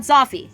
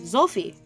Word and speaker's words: Zolfi: So Zolfi, not Zoffy, which is like, OG Zoffy. Zolfi. That's how they pronounced it, which is closer to the word Sophia, which is like wisdom.